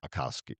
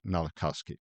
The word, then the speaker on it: Malkoski: Malkoski. Malkoski. All right, Malkoski.